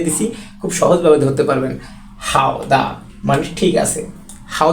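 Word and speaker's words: 好的: জন্য খুবই এখানে চমৎকার প্রমদভাবে আমি এখানে বাংলা উচ্চারণটা দিয়ে দিছি খুব সহজভাবে ধরতে পারবেন হাউ দা মানে ঠিক আছে হাউ দা মানে ঠিক আছে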